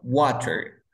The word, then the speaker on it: water: T, Si yo pronuncio la palabra water, agua, water, ¿dónde se encuentra el estrés? ¿En wa o en ter? Wow. En wa. Wa, Muy bien.